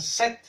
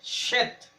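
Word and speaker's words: שת: Como ellos no pueden pronunciar la she, ellos le quitan la h a todo y le ponen Set. Pero su nombre correcto en hebreo es Shet.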